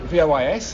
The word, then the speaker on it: vois: And the il and the je, if the je is je vois, V-O-I-S, and il, V-O-I-T, but given you don't pronounce the S or the T, je vois, il voit, they sound the same.